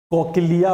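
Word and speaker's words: cochlea: उसके बाद ये वाला स्टेट होता है कोकिला, नहीं कोकिला नहीं, कोकिला, कोकिला, कोकिलिया कहते हैं, प्रोनाउंसिएशन में गलती हो रहा।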